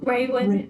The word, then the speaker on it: Raywin: Raywin. Raywin. Rayin. Not Raven.